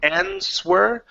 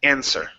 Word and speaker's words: answer: with the word answer the W is silent okay so instead of saying answer the word is answer okay okay um next